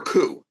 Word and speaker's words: Coup!: um uh is it Coupe or coup coup it's like a military coup it's pronounced but yes okay got